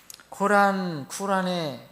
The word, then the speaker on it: 쿠란: 이것을 그 아랍 말로는 더 가까운 발음이 쿠란이래요. 쿠란.